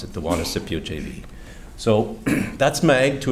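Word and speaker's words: Juanicipio: operate the facility for us and it's called wanna Scipio as you can see that's how you pronounce it the wanna Scipio JV so that's my to a degree but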